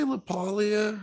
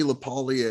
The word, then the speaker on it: LaPaglia: Yeah, I say LaPaglia. I don't know how you say it. Honestly. I think that is how you say it. Like you have Camille Paglia.